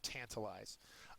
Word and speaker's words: tantalize: perfect uh visual for tantalize uh it's a verb uh the first syllable is accented it means to to